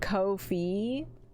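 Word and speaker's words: Ko-fi: It's now pronounced coffee. Uh, okay. Technically, I'm pretty sure it's actually pronounced Kofi. And uh, I'm stuck in my ways and everybody just pronounces it however they want to pronounce it.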